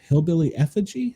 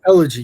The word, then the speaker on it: Elegy: His book, Hillbilly Effigy, I think is how it's pronounced. Great book. Elegy, yes.